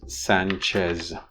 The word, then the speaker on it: Sánchez: And the way he pronounces it is Sanchez with a Z. Alexis Sanchez. The second is of the same name pronounced by a Spanish speaker. Hugo Sánchez Márquez nacía.